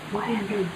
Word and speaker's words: Guadiana: Guadiana. Did I pronounce it right? Hey, as my parents can tell you, and as a good friend what of... What do you say? Guadiana? Ribera del Guadiana. Yeah, you had it.